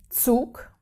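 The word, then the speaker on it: Zug: to talk about is the letter set this one in German is really really sharp it is it's already called set so it's really hard and yeah I give you an example the word for train is sook sook also another words in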